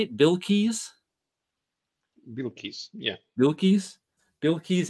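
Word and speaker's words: Bilquis: Bill Keyes, yeah.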